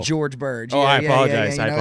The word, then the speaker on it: George Birge: Is it pronounced Jorge? Well, it's the G's a little harder on it. It's Oh. a George Birge.